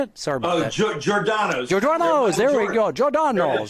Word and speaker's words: Giordano's: So, Giandora. How do you say it? Sorry about that. Giordano's.